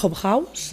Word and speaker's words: Hobhouse: Hi ha una activista britànica que es diu Emily Hobhouse, es pronuncia així, que ella va millorar la vida